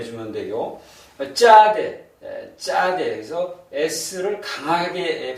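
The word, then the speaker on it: צדי: 쌍디귿 발음해서 요건 이제 경험 어 경험으로 발음해 주고 경험으로 발음해 주면 되고 짜대 짜대 그래서 s를 강하게 발음해라 하는 요거는 어 영어의 ts로 발음해 주면 되겠습니다.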